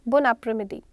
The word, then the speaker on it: bon après-midi: Now why it is napre? The word is like après. वो a से start हो रहा है but हम sound वहाँ पे napre ले रहे हैं because जो word bo है it is ending with n. वो एन से साउंड फिनिश कर रहा है अपना, तो हमने बो का एन और आपरे का ए मर्ज कर दिया एंड इट is like called लियाजो in French.